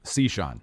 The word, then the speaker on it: Cichon: is strange yeah that is super strange so pronounce your last name again for me c sean c sean okay i gotta remember i got